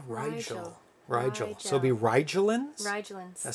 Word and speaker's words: Rigel: though it's very similar i've always heard it pronounced rigel oh yeah rigel rigel so be rigelands